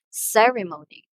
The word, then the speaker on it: ceremony: we have ceremony again ceremony so the first syllable receives the emphasis in pronouncing the word usually some people pronounce